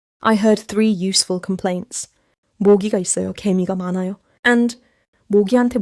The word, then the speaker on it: 모기: Small pronounciation catch. 모기 and are different. 모기 starts with음.